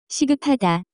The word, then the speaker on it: 시급하다: To be urgent, the pronunciation of this word is closer to 시급하다.